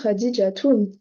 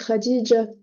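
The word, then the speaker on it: خديجة: s'appelle Khadija par exemple est-ce que vous dites Khad mais en vrai ça s'écrit comme ça c'est khadij le vrai prénom mais vous allez pas vous dites pas khadij vous dites Khadija voilà c'est pour ça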